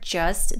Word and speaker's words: just: So in the word just, the T is dropped and it's pronounced with a schwa, just.